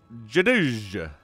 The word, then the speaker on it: JDGE: Otherwise known as Jadij. Yes, that's how you pronounce that.